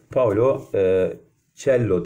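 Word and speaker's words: Paulo Coelho: sizlere Değerli arkadaşlarım Evet Paolo uccello diye telaffuz ederler genelde tel Arkadaşlar bu kıymetli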